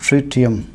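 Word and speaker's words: tritium: Third isotope है ट्रिटियम, इसे pronounce करते हैं एस ट्रिटियम।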